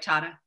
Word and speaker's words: Tata: accelerated uh leadership program at tata did i pronounce that right tata yes and uh that's a selective program because